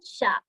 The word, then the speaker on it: chat: And it's le chat. Only the three letters, first three letters, which is sha.